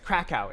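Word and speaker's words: Kraków: I've been to Cacao or I guess KKow is how you say it in Polish.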